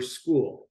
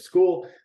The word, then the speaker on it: Skool: welcome in today's video we are going over school it's spelled s-k-o-o-l and it's a software that will